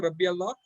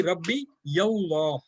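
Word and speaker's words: رَبِّيَ اللَّهُ: It will be not Rabbi Allah, it will be Rabbi Yallah, Rabbi Yallah, not Rabbi Allah.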